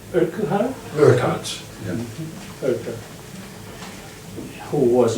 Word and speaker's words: Urquhart: admirer, or a lover, called Francis, I never pronounced this name correct, Urquhart? Urquhart.